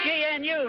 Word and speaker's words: gnu: lens you know it's gnu news the g is silent one thing you've got